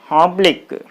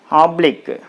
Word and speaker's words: oblique: smoke on tick and finally oblique oblique okay so on blick black this is the last variable so you put the stress on blick like this so this